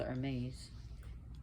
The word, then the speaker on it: Hermes: is one of them Hermes which is actually pronounced hermese Hermes is a psychopomp so what else want